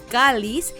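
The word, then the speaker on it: Chalice: de chares eh que se escribe y se pronuncia en inglés como calis es un tipo de copa que se usa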